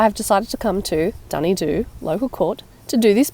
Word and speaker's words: Dunedoo: decided to come to dny Doo local Court to do this part on speaking it's pronounced dny do not June do by the way dny